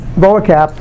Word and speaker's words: VOACAP: And this VOACAP, which I pronounce it that way, stands for Voice of America Coverage Analysis Program.